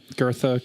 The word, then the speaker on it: Goethe: Goethe, Goth. Goethe, I think is pronounced.